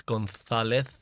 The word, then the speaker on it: González: doing, I guess, but it's González. It's like when you say Barcelona. Yeah. Actually, it's not the same letter, but we pronounce the pronunciation. It's almost the same sound. Yeah, it's the same sound. As in gracias.